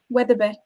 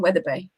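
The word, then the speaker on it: Wetherby: lindsay weatherbee yeah yeah because it works in one accent dialect but doesn't necessarily work yeah whether it be whether you know i'm not sure i would imagine most people who live in weather bay wouldn't pronounce it how i do so yeah um yeah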